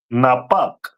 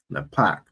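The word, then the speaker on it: נפך: And that is pronounced in Hebrew as Napak. Napak. Okay, Most High in Christ.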